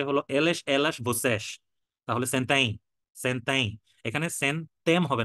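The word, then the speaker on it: sentem: আর যদি হচ্ছে হলো এলেস, এলাস, বসেস, তাহলে সেন্তাই, সেন্তাই। এখানে সেন্তেম হবে না, এটা যখন পর্তুগিজের একটা ওয়ার্ড আপনার এম দিয়ে শেষ হয় তখন এটা এই উচ্চারণ হয়, সেন্তাই।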